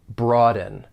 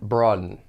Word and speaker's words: broaden: When pronouncing this verb, there are 2 syllables. The stress is on that first syllable, broaden. Now, one thing I want you to be aware of is that you may hear people pronounce this with a glottal stop.